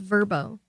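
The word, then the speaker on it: Vrbo: to say there OD it's pronounced verbo vbo yeah is it verbo yeah thank you for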